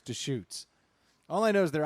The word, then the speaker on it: Deschutes: Hey, how do I pronounce that brewery? I think it's Deschutes.